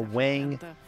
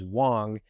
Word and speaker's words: Wang: in Wan China for Wang or actually the pr correct pronunciation is Wong and uh Quin win